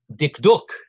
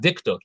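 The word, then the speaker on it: דקדוק: the la bhavi said dick duke if you want to say it right if you're really studying grammar it's not dick duck it's dick duke so the lebanese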